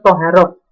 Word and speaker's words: Thaharah: yang pertama pertama yaitu thoharoh Hai semuanya tulisannya Thaharah membacanya adalah soha rok Apa itu thoharoh Hai